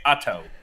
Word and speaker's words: Otto: We're in Otto. That's the name of it. And that's how the locals say it. They say Otto, North Carolina.